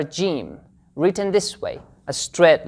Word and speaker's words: ج: Alright, the counterpart of this letter in English is the letter J, not the letter G, since the letter G sometimes produces the sound G, such as in the word give, got, gain.